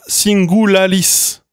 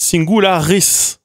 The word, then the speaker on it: singularis: Mais si jamais vous avez le radical se finit par un L, vous dites pas singularalis parce que c'est dur à dire singularis. Dites singularis.